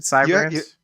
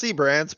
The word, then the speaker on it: Seabrands: just for my knowledge, am I enunciating your last name correctly? Is it Sybrands? It's Seabrands, but I've been called